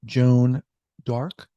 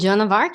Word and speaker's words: Joan of Arc: Joan D'Arc. Did I pronounce that correctly? St. Joan of Arc, you got it. We throw a fancy D in there every now and then.